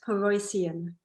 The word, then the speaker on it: Paroissien: here with you today my last name a bit of a tongue twister is pronounced peroycion there we go